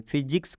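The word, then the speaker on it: physics: यहाँ पर शुरू में पीएच है, आप देख सकते हैं शुरू में पीएच आया है, और यह एक वैज्ञानिक शब्द है। फिजिक्स क्या है, एक वैज्ञानिक शब्द है, इसलिए यहाँ पीएच का उच्चारण फ हुआ है, इसलिए इस पीएच का उच्चारण फ हुआ है।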